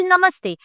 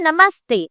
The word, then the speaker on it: namaste: For example, namaste, but they would say namaste. Why? Because their native English accent is kind of hindering their ability to speak Hindi correctly.